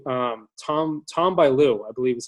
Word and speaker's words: Bilyeu: Number 1, I'd probably have to say Tom Bilyeu, I believe is how you pronounce his last name. Impact Theory. Yeah, and Tom Bilyeu.